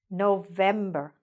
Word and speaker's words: November: November. November. Again, where did you hear the stress? In the middle.